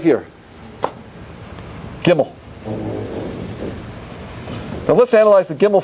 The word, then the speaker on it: Gimel: Is that good, Gimel? Yeah, that's great.